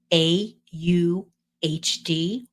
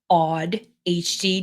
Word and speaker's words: AuDHD: today we're talking about a HD or odd HD depending on how you pronounce it and say it and it's really a